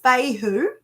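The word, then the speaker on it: Fehu: had this one before so this one is pronounced Fey who and it is the cattle ruin Stone okay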